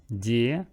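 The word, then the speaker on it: дешёвый: Дешевый. This is yo, but yo after sh is pronounced as o. Дешевый.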